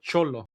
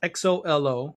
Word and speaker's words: Xolo: But Cholo, it's Xolo, which is a type of dog, a Cholinkle.